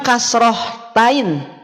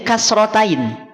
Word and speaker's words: kasratain: apaah tanwin kasrh atau kasratain Awas bukan kasrhtain bukan kasrh hilangkan Hnya kalau mau bilang rahain hilangkan Hnya jadi kasratain kalau mau bilang kasrh